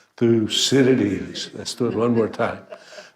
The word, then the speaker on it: Thucydides: to make sure we can all feel comfortable pronouncing this fellow's name so 1 3 1 2 3 through Citadis i stood one more time through cities so if nothing else tonight you learned how